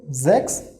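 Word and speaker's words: sechs: ch is call so we have to remember pronunciation of this word zx by ourselves okay so zx it is then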